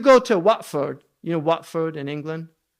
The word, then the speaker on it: Watford: to Watford, you know Watford in England? It's actually Watford. Right? But they say Watford. Why? Because they don't pronounce the T.